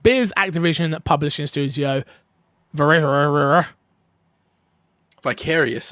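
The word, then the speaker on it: Vicarious Visions: how do you say is it veris visions viral russia thank you i knew it was and to be fair i knew it was vicarious i just i missed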